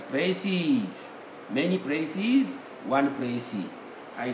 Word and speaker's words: précis: If it is singular, we pronounce it as précis. If it is plural, we will pronounce the same spelling as précis.